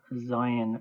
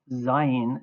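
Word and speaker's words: זין: Zayin is pronounced z as in whiz or Zion.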